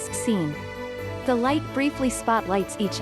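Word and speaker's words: سین: symbolic items starting with the Persian letter S, pronounced as Seen.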